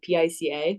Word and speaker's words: pica: It's called pica, P-I-C-A. Okay, yeah. Okay, pica. Yeah, I only know that because I associate with Pikachu, but it's spelled differently and it's pronounced differently.